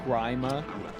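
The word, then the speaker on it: Gríma: back from the grave and just says it's pronounced grima and instantly dies again I can't tell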